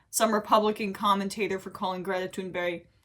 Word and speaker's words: Greta Thunberg: He, in the past, had roasted some Republican commentator for calling Greta Thunberg, that's how you pronounce it in the Swedish way, mentally ill.